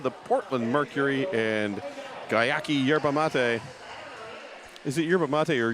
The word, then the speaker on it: yerba mate: Portland Mercury, and Gyaki Yerba Mate. Is it yerba mate or yerba mate? I heard someone say yerba mate and that felt wrong. No, it's yerba mate.